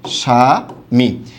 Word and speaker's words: স্বামী: এই যে এমন হবে, স্বামী। আশা করি সবাই বিষয়টা বুঝতে পেরেছেন। এমনিভাবে শব্দের প্রথম বর্ণে বফলা থাকলে তার উচ্চারণ কি হবে? বাদ, অর্থাৎ কোনো কিছুই হবে না।